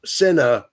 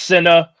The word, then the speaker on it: C1nna: His name is is SA like Cinnabon. C I N A. It's C1. C1 N A actually is how you spell it. But it is pronounced SA.